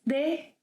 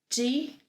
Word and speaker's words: de: I would like to start by saying that ‘DE’ may be pronounced as ‘de’, ‘dee’, or ‘di’. I tend to say ‘de’ when I speak more slowly, and ‘dee’ when I speak a bit faster.